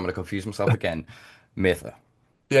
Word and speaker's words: Mattha: M It's Mather Mather. Mather, Mather, Cheers.